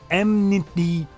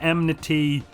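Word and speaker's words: enmity: The word is emniti. It's spelled e n m i t y. I pronounce it emnity. Don't shoot me.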